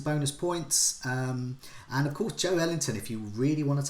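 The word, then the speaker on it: Joelinton: He's not called Joe Linton, he's called Joe Ellington.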